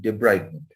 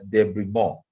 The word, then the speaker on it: debridement: call a wound toilet the proper word is wound debridement and it's a french word some people pronounce it as debris more because it's french french